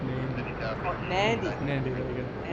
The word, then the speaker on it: Nadi: It's pronounced Nandy.